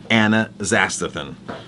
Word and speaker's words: astaxanthin: It's totally eating a totally different astaxanthin. Astaxanthin is how you pronounce that.